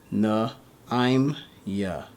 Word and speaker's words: Naimya: to the left, being Na-I'm-Ya. Na-I'm-Ya, the connector, Alright, so you would not pronounce the ma. You would just put these both together. So the I and the ma with I'm.